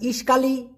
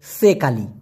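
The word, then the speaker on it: sekali: ইশকালী মানে তো একসাথে প্রথমেই বলি ভাই ইশকালী বানানটা ভুল উচ্চারণটাও ভুল মূলত হবে সেকালি অনেক ধন্যবাদ ভাই এত সুন্দর একটা প্রশ্ন করার জন্য অনেকের ভুলটা ভেঙে যাবে মূলত ভাই ইসকালি হবে না হবে হচ্ছে সেকালি সেকালি মানে তো একসাথে আপনার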